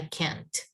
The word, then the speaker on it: can't: students last night about be careful when you're saying can't that you pronounce the t at the end yeah i can i can't i can't do this anymore you can't it's like with the air stopping in your mouth stopping in my mouth